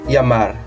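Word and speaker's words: llamar: We also have d L or double L that sounds Y in Spanish. So there's a word uh for example to call in English. In Spanish it's Yamar.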